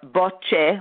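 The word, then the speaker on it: Bøttche: But if you want, the names of the authors on one of the papers that describes it are Botche, which is spelled B-O-T like Thomas, T like Thomas again,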